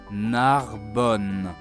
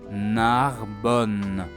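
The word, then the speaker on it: Narbonne: the east of Spain, the double letters N here sound just like one N sound. Narbon. Listen again. Narbon. Narbon.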